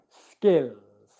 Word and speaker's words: skills: It's not zga, zga. And especially the g sound, you do not want to make that with any voicing. It's not ska or sg, it's ska, ska, ska, skills, okay?